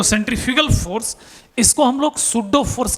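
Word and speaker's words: pseudo: Spelling को ध्यान से देखना। पी एस ई यू डी ओ ये लिखा है ना? पी एस ई यू डी ओ सूडो force.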